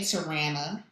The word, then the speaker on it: Tarana: Okay, Tarana, elaborate. He always pronounced my name wrong. No matter how often I corrected him, he said Ran in the middle instead of Ron.